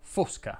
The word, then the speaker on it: Fosca: diego cominciamo dalle certezze fosca si pronuncia con la o chiusa fosca poi c'è la serie